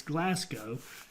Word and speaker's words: Glasgow: how to say Glasgow and that's it it's Glasgow and I'm counting as the expert here our